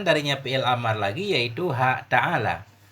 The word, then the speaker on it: تعال: Bagaimana cara membacanya? Bi fathil lami, dengan fathah lam mutlakan, hal keadaan fathah lam mutlak alal asah. Bukan, mutlakan. Ta'ala ini fathah lam mutlak, artinya dalam kondisi apapun dia tetap fathah lamnya.